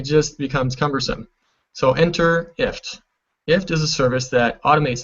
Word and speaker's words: IFTTT: this factoid and again it's pronounced ift like lift without the L and at its most